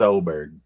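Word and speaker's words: Åberg: 134 and um Levig Oberg. It's spelled with an A, but it's pronounced Oberg.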